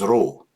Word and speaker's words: Ro: And some people first time they think that this letter is P and actually it is row all the time looks like P but it's pronounced like row our letter R.